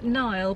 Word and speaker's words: Niall: Is it Niall? Is that the way you pronounce it? Yeah, Niall, but he's put Neil in brackets.